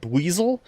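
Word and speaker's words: Buizel: Around here, you can find a Pokemon called Buasel. It's got an aggressive disposition. Weasel rhymes with weasel.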